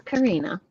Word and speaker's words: Karina: It's Karina. You should say it wrong again. And it's actually a rolled R.